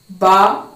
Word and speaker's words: ب: سے یہ لیٹرز نکلتے ہیں۔ نمبر 1، با۔ با کہاں سے نکلتا ہے؟ The letter ba is pronounced by pressing the inner surface of the